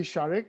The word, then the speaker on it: Sharik: Is it Sharik? Is that how you pronounce it? It's actually Sharik. It's very close to Oh, Sharik. Sharik.